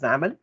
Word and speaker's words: XAML: form and as i've already mentioned it is pronounced as xaml and it has a code behind file for